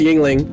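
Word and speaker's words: Yuengling: effect moment right now no no no it's yingling it's from here justin is he is getting drunk oh y-u-e-n-g-l-i is it pronounced yingling but spelled jungling uh oh you're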